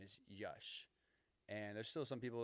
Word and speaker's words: Yash: It wasn't until two years ago he made like a public announcement that, hey, my name is Yash. And there's still some people that pronounce it Yash um from our like our past, but like